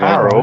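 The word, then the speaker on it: Arrowe: Sorry, It's Arrow. It's spelled like Arrow with an E on it, but it's in Birkenhead sort of area.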